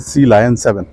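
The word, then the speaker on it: Sea Lion 7: देख पा रहे हैं, सी लायन 7, इसको कुछ लोग सिलियन भी कहते हैं, कुछ लोग सी लॉयन भी कहते हैं, बट जो correct pronunciation that is सी लायन 7।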